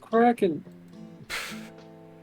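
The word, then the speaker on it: Kraken: set two miles away Against the Wind it's pronounced cracken I even got to ask what the [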